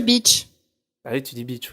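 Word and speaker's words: Bitche: tout essayé les pauvres ça s'écrit B i T c par contre tu dis Beach ah oui tu dis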